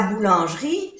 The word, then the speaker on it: boulangerie: Boulangerie. O-U-U. A-N-A. Boulangerie. Jri. Boulangerie. No se pronuncia estas dos E.